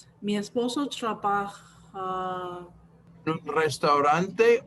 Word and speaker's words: restaurante: Oh yeah, the R is very hard to pronounce. It's restaurante.